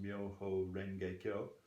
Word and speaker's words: Myoho Renge Kyo: So Nichiren took the title of the Lotus Sutra as it was in Japan, which was then pronounced Myoho Renge Kyo, and he added a